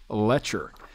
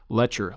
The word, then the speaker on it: Loetscher: church by guy named here hear this lefferts letter this book subtitled a study of theological issues